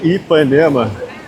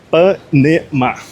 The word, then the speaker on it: Ipanema: a legenda em inglês, eu sempre falo a palavra Ipanema, que se pronuncia Ipanema. Ipanema. Mas como eu falo rápido Ipanema, geralmente na legenda sai Panema. Panema, sem o I. Mas só para deixar vocês aí antenados, que é Ipanema. Não é nenhuma abreviação, nem nenhum